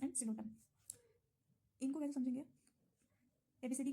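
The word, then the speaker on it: Psilotum: P silent होता है, just उसके बगल में सिलोटम, उसमें भी पी साइलेंट है।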